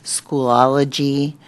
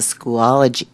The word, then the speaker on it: Schoology: in teacher webpages and I'm wondering about the school ology my pronouncing that right school ology Schoology Schoology I'm wondering if there are you know